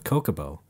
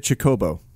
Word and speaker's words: Chocobo: I thought Chocobo was Kokobo. Oh, that's interesting, because Brad always said Kookaboo. Yeah. I have no idea where that came from, but... Yeah. I always said Chocobo.